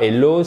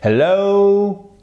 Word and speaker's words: hello: Et ce n'est pas hello, c'est hello, ok? Accent tonique ici, vous avez une diphtongue.